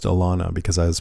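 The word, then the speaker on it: Alanna: The last thing that Lauren Cohan said to me was, um, it's pronounced Alana because I was pronouncing Alana's name Elena during a panel.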